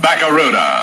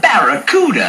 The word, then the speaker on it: Barracuda: And right now, I'm giving the best deal ever on that new Plymouth Bakaruda. Hey man, the name of the Plymouth Fastback is the Barracuda. I can't pronounce Barakaruda.